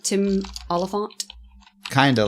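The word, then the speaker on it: Olyphant: Oliphant. Oliphant. You have to say it like that.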